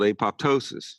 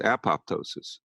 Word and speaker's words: apoptosis: What's called apoptosis, sometimes pronounced apoptosis, programmed cell death, goes up following EMF exposures.